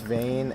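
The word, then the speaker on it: Vein: It's spelled V-E-I-N. And we yeah, it's Vane, and I think if you Google it, you'll like barely be able to find anything about it.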